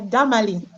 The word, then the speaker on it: Damalie: And before we move on with Precious and Damalie, Damalie, did I pronounce right? Yeah, Damalie.